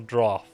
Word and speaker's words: draught: prepare the most special draught. I don't know how to pronounce that. I think is that pronounced like draft? Draught? Draught sounds wrong. Like draft might be more correct, but sure.